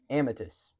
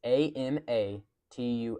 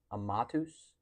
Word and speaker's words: Amatus: And his name is, drum roll, Amitus. Okay. It's a m a t usu s. Now technically it's pronounced amatus.